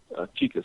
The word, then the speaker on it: Chike: can hit me up there my first name is spelled chica c-h-i-k-e last name uh i will